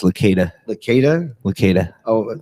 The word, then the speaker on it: Licata: It's pronounced Licata.